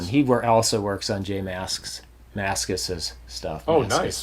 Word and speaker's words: Mascis: That's a hard way to say. Jay Mascis's. Jay Mascis. It sounds like you're saying it wrong. It's weird. That's like that word wasp. Yeah. Say wasp, the plural of wasps. Wasps. It's the weirdest thing. You want to add 5 S's to it.